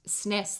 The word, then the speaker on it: SNES: talk show i watched 67 percent of people call it snes the talk show did say that snes the way i say it is more popular as a pronunciation in europe so yeah all i